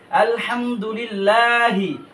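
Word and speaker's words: الحمد لله: লিল্লাহ লামকে মোটা করে লাম মোটা করবো না আলহামদুলিল্লাহি রব বা লামের বিল রব্বিল আলহামদুলিল্লাহি রব্বিল এখানে একটা ভুল হয় বিলে মানে লামের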